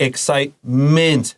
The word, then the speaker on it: excitement: So it's illness and excitement.